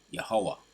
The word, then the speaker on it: Yahweh: you would say Yah, or you would say Yahweh, right? He is, or he is to be. That's his true name, how you pronounce it.